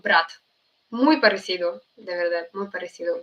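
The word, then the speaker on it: брат: "bro" as in, uh, we say it like "brat."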